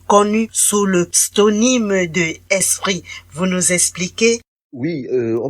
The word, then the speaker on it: ESSPRI: bien savent aussi que Esprit, c'est juste le diminutif de Esopriso. Donc certains l'écrivent d'ailleurs comme esprit avec T, E-S-P-R-I-T. Non, mais le mien d'esprit s'écrit E-2-S-P-R-I, comme le diminutif de Esopriso.